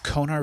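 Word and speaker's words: Konar: a good search like conar Valley it's spelled I've seen it spelled two ways it's k u n a r or k o n a r I've heard kunar or conar yeah that's yeah k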